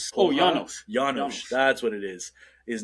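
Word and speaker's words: Janosz: never mind so I don't know how to pronounce his say his name it was Janos oh Janos That's what it is.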